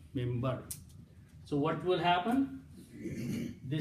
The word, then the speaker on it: minbar: When you pronounce the word mimbar, it is actually minbar. Mim noon, bara, but you pronounce mim, mimbar.